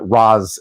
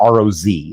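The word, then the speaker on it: Ra's: Um, but yes, I have been told by Arabic speakers that Raz is still, which it's not ro, it's ra apostrophe s.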